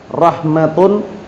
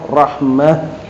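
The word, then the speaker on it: رحمة: Warahmah bilha rahmatun. Kalau wakaf rahmah jadi enggak boleh rahmat, enggak boleh rahmah. Tak marbutah. Kalau antum wakaf bacanya apa? Rahmah.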